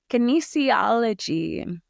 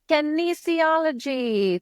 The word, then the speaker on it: kinesiology: Kinesiology. Kinesiology.